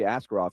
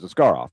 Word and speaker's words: Askarov: said, "Yeah, call me Askarov." Where where after we were with him for 3 years in Milwaukee, and we went over it how you say it really in Russian, which is Askarov.